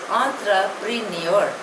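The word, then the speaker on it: entrepreneur: आर ई एन ई यू are pronunciation is आंत्र प्रनर इट इज a French word it means a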